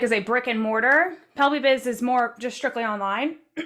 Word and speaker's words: Pelvibiz: Pelvibiz.